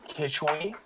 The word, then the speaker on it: Quichwe: right Keith Keith which how do you pronounce your name uh Keisha way or kitchy kitchy okay that was actually